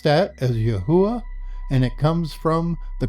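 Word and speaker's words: יהוה: We pronounce that as Yahuwah, and it comes from the Concordance H3068.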